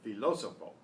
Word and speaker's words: filósofo: Santo Tomás es un filósofo. Filósofo. You have to see that the accent mark there is on the next to the last syllable. So that's where you put the stress.